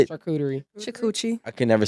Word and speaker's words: charcuterie: And you hit me with I want a 4 Loko and charcuterie board. How do you say it? Charcuterie. Chakuchi.